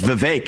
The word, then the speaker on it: Vivek: often open up I say my name's Vivek it rhymes with cake it ain't about me